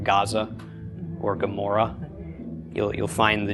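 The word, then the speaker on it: עמורה: So how do you technically pronounce Gomorrah with the ayin? Gomorrah. Gomorrah. It's like swallowing your tongue while saying Amora.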